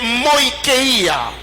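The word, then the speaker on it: μοιχεία: Le premier mot, c'est moïkeia. Moïkeia qui s'écrit comme M-O-I-C-H-E-I-A.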